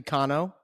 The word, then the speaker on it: Cano: on the planet um my name has been pronounced has been butchered for years and I never really uh corrected anybody it's actually cono but you are a